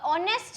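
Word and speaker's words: honest: क्योंकि यहां पर जो ऑनेस्ट है क्योंकि यह जो ऑनेस्ट है वहां पर एच जो है वो साइलेंट होता है। एच को हम रीड नहीं करते।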